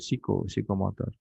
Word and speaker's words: psikomotor: untuk yang psikomotor ya tulisannya PSI ko psiko Tapi bacanya snya gak usah dibaca jadi eh e p-nya gak usah dibaca ya langsung Piko psikotor kalau di Apa bahasa asing itu kadang kita harus mengikuti budaya mereka cara mengjanya seperti itu kan bacanya sa ya ya sama dengan ketika